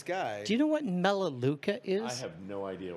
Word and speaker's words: Melaleuca: are you familiar with malaluka no and so i tell him funny enough i am familiar with malaluka that's i i've always heard it pronounced melaleuca and i only know